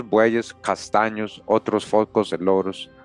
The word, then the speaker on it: loros: So the chestnut color right brown others dusky and lorto muchos bu cast otros foss and loros the latter to rhyme with toos.